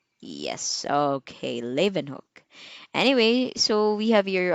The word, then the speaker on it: Leeuwenhoek: as lay okay so the stress is on the first syllable lei levan hook okay leaven hook anyway so we have